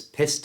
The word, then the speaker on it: pissed: Notice the ED at the end of pissed is pronounced as a T sound.